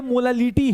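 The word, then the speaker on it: molality: नाम प्रोनाउंसिएशन बेटा कभी कभी अगर सही से नहीं प्रोनाउंस करोगे, दोनों इक्वली साउंड करते हैं लेकिन दोनों में बहुत बड़ा डिफरेंस है। ये मोलालिटी है, मोलालिटी LITY, लेट गया है, ये बोल रहा है लेट जाऊंगा भैया, सॉल्यूट अपॉन सॉल्वेंट कर दूंगा।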